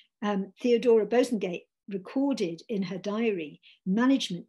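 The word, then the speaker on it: Bosanquet: the paper's literary editor theodora bozengate that's actually how she her name is meant to be pronounced i gather um theodora bosengate recorded in her diary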